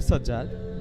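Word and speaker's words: Sazzad: around the ground sajad versus sajad the little bit difference there sajad the better s a j j a d and the bowler sad s a z z a d but the pronunciation that might be the same sure same yeah should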